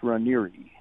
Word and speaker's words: Raniere: Well, there's two pronunciations. Most people pronounce it Rainier, like you said. Okay. But the Italian pronunciation is Ranieri.